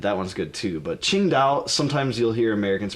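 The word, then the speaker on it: Tsingtao: called yaning and that one's good too but ching out sometimes you'll hear Americans pronounce it as sing tow but that one is a common one that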